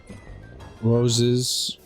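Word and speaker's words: Woese: by Carl Roses. I don't know if I'm pronouncing that right.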